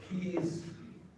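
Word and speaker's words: Caius: My college is Gville and it's pronounced keys for some historical reason.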